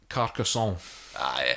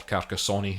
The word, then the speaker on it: Carcassonne: like to bring up carcassonne or carcassonne if you want to pronounce it in english i've heard of this